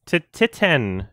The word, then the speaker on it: Titane: did we all watched titan oh yeah is that how you say it to 10 yes well because it's a french title that translates to titanium